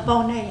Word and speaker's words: Bonnet: How about that Bonnet House? The Bonnet House. Oh, Bonnet. So It was Bonnet. Someone corrected me. I said Bonnet and they said Bonnet. the people there pronounced it Bonnet.